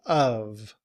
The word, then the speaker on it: of: The upside down V is pronounced like such as in cup. And then we have the V. So we say of.